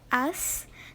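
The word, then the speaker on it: Ace: Donc vous voyez le cheval juste derrière moi, c'est mon cheval, il s'appelle As. Donc ça s'écrit A-C-E.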